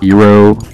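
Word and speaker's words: Hiro: You play as Hero, which I thought was kind of funny how much it sounds like Hero, but instead it's spelled H-I-R-O, which, you know, I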